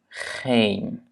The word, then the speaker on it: geen: La première, c'est que les doubles voyelles sont toujours longues. Dubbele klinkers zijn altijd lang. Ja? Double voyelles sont toujours longues dans la prononciation. Donc, par exemple, A, baan, kaart. Ja? E, kleed, geen. Ja? Kleed en geen.